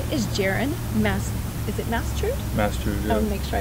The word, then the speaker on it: Mastard: Is it Mastard? Mastard, yeah. I'll make sure I pronounce there it right.